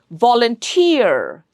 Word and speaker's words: volunteer: ESE, QUE, ETTE, OON, we treat them as suffixes, and in such words, the suffix gets the stress.